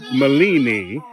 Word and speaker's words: Mellini: Milini, Antanez Woods Turner. Milini. It's Italian, because her father was in Italy during World War II, and that's the name he brought back and named his daughter. Yes. Milini.